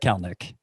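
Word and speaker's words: Kelenic: this would be your number two it's jared kalnick of the mariners who kel nick is spelled k-e-l-e-n-i-c and while we're at it jared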